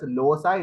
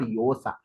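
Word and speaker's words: Llosa: l l OA and several of our uh Scholars pronounce it as Losa it's actually not Loa in Spanish if two l l comes together it's called yosa similarly mix me paria paria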